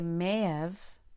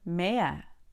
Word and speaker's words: may have: may have done it you can say mayev or maya sometimes we don't even say the v i may have done